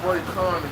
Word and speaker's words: Roy Cohn: Roy, I call him Roy Cohn. Roy Cohen, this lawyer he had, he was grooming him when he was younger.